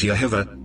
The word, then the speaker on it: Jehovah: Of all the pronunciations, Yahweh and Jehovah, correctly pronounced as Yehovah, are the most accepted, and really, all the variations cling to either one, coming from the root, Yah.